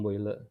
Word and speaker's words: Boyle: Mungkin sering dengar Boyle ya, hukum Boyle. Sebenarnya bacanya Boyle ya.